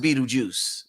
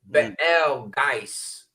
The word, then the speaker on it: Betelgeuse: Orion is Beta. So it's pronounced Betel. Betelgeuse.